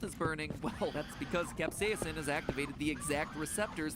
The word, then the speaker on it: capsaicin: about is a typical capsaicin and yes i'm pronouncing it capsaicin because that's how miriam webster told me to pronounce it even though i have never once heard anyone in my life pronounce it that way capsaicin so if you don't like it take it